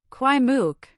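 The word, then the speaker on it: Kwai Muk: Kwai mook.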